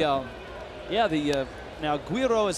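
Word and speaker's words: güiro: of photoshop the um yeah the uh now guiro is how you say it yes and and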